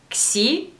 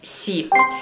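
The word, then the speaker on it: xi: Как читается этот китайский слог, если это китайское слово читается «сиань»? Варианты ответов. «Кси», «си» или «сы»? Ваш ответ. Правильный ответ – «си».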